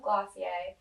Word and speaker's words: Glossier: love everything that they're doing right I love glossier that's how you pronounce it I was but I think they